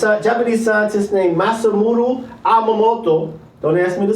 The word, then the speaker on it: Emoto: Understanding there's a Japanese scientist named Masamune Emoto. Don't ask me to spell it. I'll say it again. Masamune Emoto.